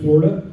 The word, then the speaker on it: Florida: And then Florida, they take 3 syllables and turn it into 2, Florida.